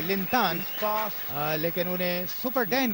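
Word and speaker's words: 林丹: ये शुरू हुआ मैच लिंडेन ने पहली सर्विस की है। सुपर डेन के नाम से प्रसिद्ध लिन इस समय उनका जो चीनी नाम का उच्चारण है वो है लिनता लेकिन उन्हें सुपर डेन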